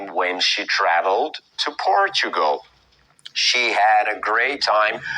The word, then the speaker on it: Portugal: Portugal é a pronúncia em inglês.